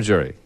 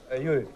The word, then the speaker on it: Yuri: Do I pronounce it Yuri or Jury? Yuri. Yuri, okay.